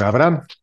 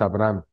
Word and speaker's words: Abraham: árabe y en arameo la H se pronuncia como J entonces la pronunciación correcta de Abraham sin h es Abraham pero con h es Abraham entonces sino que será